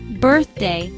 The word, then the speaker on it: birthday: Birthday, two-syllable word. Stress is on first syllable, birthday, meaning the day you were born, celebrated each year.